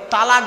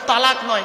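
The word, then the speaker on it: طلاق: বলে না শব্দটা কিন্তু তালাক নয় খবরদার এটা বলবেন না শব্দটা তালাক নয় শব্দটা হলো তলাক কি বললাম তলাক ওর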